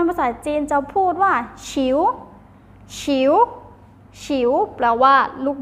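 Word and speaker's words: 球: บอล อ่า า ให้ เด็ก เล่น นะ คะ ฉิว แปล ว่า ลูก บอล ค่ะ นัก เรียน ออก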